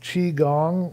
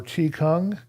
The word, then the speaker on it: Qigong: more do standing type exercises there's something called Qigong or Chi Kung depending on how you pronounce it but there's a fire in I believe Fire and Water uh qgong that's q i uh g-o-n-g by a fella